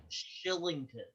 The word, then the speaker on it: Kylington: 60 oh holy cow his name is actually pronounced shillington yeah shillington yeah it's it's been i don't know how i do oh chilling oh jeez no like literally like i i heard that in multiple broadcasts and i looked it up and it's like it's true like like i cannot explain how but it's pronounced shilling wow interesting very interesting